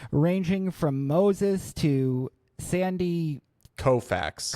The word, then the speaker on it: Koufax: a beautiful tradition ranging from Moses to Sandy Koufax. Koufax. Thank you for helping me with that pronunciation.